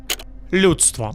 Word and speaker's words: людство: 2 problems here. 1, lu, the soft lu syllable. English doesn't have this sound. Lu, not lu. Lu. Next problem, DSTV, 4 consonants in a row with no vowels. Breakdown. Americans want to add vowels. Duchstvo. Nope. Людство.